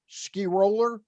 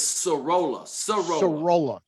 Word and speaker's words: Sorolla: The Orioles took a Rule 5 draft pick out of the Cincinnati Reds organization, and the pronunciation Skiroller, Mike Skiroller? It's Sorolla.